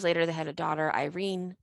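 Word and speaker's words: Irène: 2 years later, they had a daughter, Irene, pronounced Irene because they're French.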